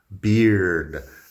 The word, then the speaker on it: beard: Beard. Beard suena igual a beer de cerveza, pero con la D al final.